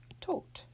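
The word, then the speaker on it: Tod: to talk about it with a final D that will actually be pronounced as a T so this is Thoth and one more here's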